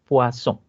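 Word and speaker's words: Poisson: es un apellido y en francés las consonantes finales no se pronuncian entonces esta es la distribución de hueso o al son la distribución de púas o wason más conocida como distribución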